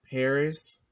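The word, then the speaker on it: Pbris: that okay okay I've been listening to um Paris it's spelled p b r i s okay um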